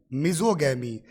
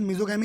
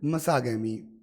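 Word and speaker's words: misogamy: तो एक वर्ड होता है मिजो प्लस गैमी, मिजोगैमी। वैसे प्रोनाउंसिएशन मिजोगैमी नहीं होता है ना, प्रोनाउंसिएशन होता है मिज गैमी या फिर मसागैमी।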